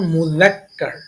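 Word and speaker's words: مُذَكَّر: শুদ্ধ উচ্চারণ মুজাক্কার।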